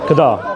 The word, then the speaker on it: Qadar: How do you pronounce it? Qada. Qadar.